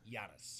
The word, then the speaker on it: Giannis: Giannis. Giannis. Giannis. It's like yogging. Wow. Soft G. Yagin. Yeah. It's a Soft G.